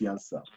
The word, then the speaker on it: Janša: I think the J is pronounced Janša.